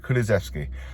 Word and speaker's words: Kulusevski: Kulusevski.